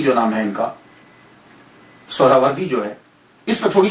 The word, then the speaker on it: سہروردی: اصل تلفظ کیا ہے۔ اصل میں یہ سہراوردی یا تو نسبتی ہے، تو لفظ جو ہے وہ سہراورد ہے، سہراورد، سین کے اوپر پیش، پہلی ہا، یہ ہا